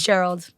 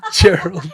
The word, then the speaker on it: Cheryl: school many years where people think my name was gerald my name is not gerald cheryl my name is not